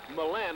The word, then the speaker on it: Millen: her 49 where matt millen and i hope i'm pronouncing that freshman samus that millen millen correct milan i believe it's milan he's a freshman and